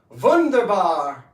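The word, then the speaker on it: wunderbar: It's a very very comfortable feeling, which is which is vunderba. Vunderba in German means wonderful. Everybody say it. Vunderbar with like a V. It's a W, but it's pronounced as a V.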